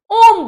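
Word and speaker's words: homme: शुरू हो रहा है, इसको हम लोग होम नहीं ओम बोलते हैं, ओम, ये साइलेंट है, तो यहां पर ये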